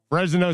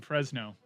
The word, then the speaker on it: Fresno: Fresno State over UConn. How'd you pronounce that? 45-0. No. You put an extra syllable in Fresno.